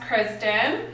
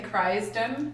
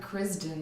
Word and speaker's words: Crisdon: special guest Kristen hello notice I didn't say cries them are Kristin Kristin Kristin Kristin and see why people get confused though kind of funny the way it's spelt yeah everyday people like oh that's a neat way to spell that it's C RISD oh and doing it Kristin yeah we've been friends